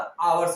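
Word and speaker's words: hours: क्योंकि हम उच्चारण जो करते, प्रोनाउंसिएशन जो करते हैं वो एच साइलेंट होता, आवर्स आता है, इसीलिए इन हावर्स होगा।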